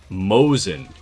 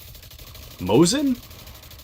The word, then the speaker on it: Mosin: Uh mouse says Mosin is pronounced Mosen. Mosen.